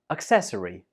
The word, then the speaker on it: accessory: We pronounce this as accessory. Accessory. This word has 4 syllables. Accessory, and the stress is on the second syllable.